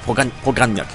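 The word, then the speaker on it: Pogrebnyak: Genau, Pogranjak. Genau, so spricht man den.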